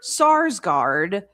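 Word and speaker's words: Sarsgaard: that shows Peter Peter Sar. See, you almost got me doing it now, Robert. You got me pronouncing the name wrong. It's Sarsgard and Scarsgard. Yeah, Peter Sarsgard approving of all of the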